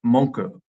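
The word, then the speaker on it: Monku: those traits Cafe dek the Japanese and nearly every syllable with a vowel sound so the final word sounds more like monu than monk in Japanese Mona means to complain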